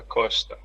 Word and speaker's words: Costa: And why is it a sh? It's because it is at the end of the first syllable and precedes a consonant.